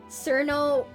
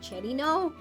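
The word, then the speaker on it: Cirno: or something of like, oh, are you Cherino? Oh, sorry, I guess you don't know the correct pronunciation. Cerno.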